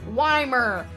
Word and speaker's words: Weimer: And so I kind of just came up with this fun thing where I'm like, oh, it's Weimer, like why Mermaids, Weimer.